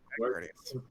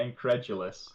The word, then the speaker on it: incredulous: Incredious. Yeah, incredulous.